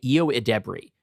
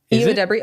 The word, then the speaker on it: Ayo Edebiri: I think it's pronounced. I know people generally get it wrong, and I think I actually heard her say Ayo Edebiri. Ayo Edebiri?